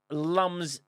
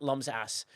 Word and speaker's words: Lamias: And it's pronounced Lamias. Lamias STFC Day. Okay, Lamias, you're ahead, not Lum's ass.